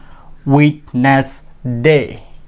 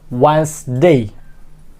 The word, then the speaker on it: Wednesday: Especially when I did not know the right pronunciation of this word at the time I pronounce it Wednesday, but it will be Wednesday.